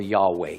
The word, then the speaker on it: Yahweh: What it really says there is, "I wait for your salvation, Yehovah," or Yahweh, depending on how you want to pronounce it.